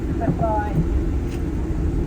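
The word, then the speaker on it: Cleddau: Okay, so Clify, the name of this valley is actually Welsh. It's spelled Cle, but you pronounce it Cliff Eye.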